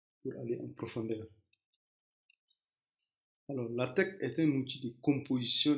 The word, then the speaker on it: LaTeX: page cohérente et professionnelle avec la TEC prononcez la TEC concentrez-vous sur le contenu